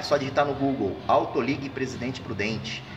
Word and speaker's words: AutoLig: É só digitar no Google, Autoligue Presidente Prudente. O ligue no fim, o G é mudo, tá? Autoligue, é só ligue, né? Só um Gzinho no fundo, é mudo no fim, tá ok?